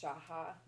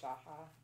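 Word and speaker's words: שחה: And that word for worship is shaha. It's S-A-C-H-A-H. It's pronounced shaha or something similar to that.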